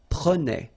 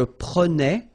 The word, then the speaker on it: prenais: Alright, so same thing here, final S not pronounced.